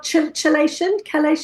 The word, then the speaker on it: chelation: how do you pronounce that word again? Clearing out Right. the the accelerator. Is it accelerator? Oh, chelation or Chelation, yes, yeah.